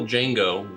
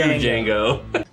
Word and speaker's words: Django: Well, that's actually the original Django. He actually sits down and has a drink with the new Django. D-J-A-N-G-O. The D is silent.